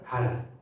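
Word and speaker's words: דל: 예수님께서 말씀하신 가난은 달, 히브리어입니다. 이게 뭐 하늘에 있는 달, 우리말이 아니고 히브리어로 달이라는 발음이 나는 단어고요.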